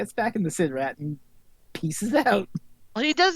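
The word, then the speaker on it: SIDRAT: Also, at one point, one of the two villains calls it a side rat. This is where it, yeah, but that's what, yeah. But it's Sid Rat. It's spelled Sid Rat.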